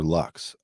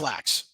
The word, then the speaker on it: Lax: You know, I talked to, is it Lax or Lux? it's Lax, Ron Lax.